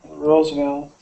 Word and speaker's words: Roosevelt: And Roosevelt, that V, so somebody asked in the chat if the V sound is the same as the W sound. It is not. It is not. They are two different sounds. W's, for everyone listening, wah, wah, wah, wah. W is wah. Your mouth is just wah, doing that with your lips. But the V sound, you're using your bottom lip and your top teeth touching your bottom lip.